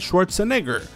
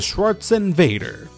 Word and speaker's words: Schwarzenegger: aún más extraña por la forma en que Antoine pronuncia mal Schwarzenegger y dice Schwarzenvader.